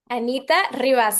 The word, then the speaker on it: Anita Rivas: Anita Rias. Anita Rias.